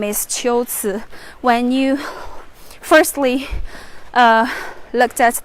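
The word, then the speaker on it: 龟兹: it's actually not here this place should be pronounced as chills all right let me check some comments from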